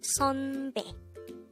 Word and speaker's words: 선배: Again, it's not SUNBAE with an u sound, but it's 선배 with the a sound.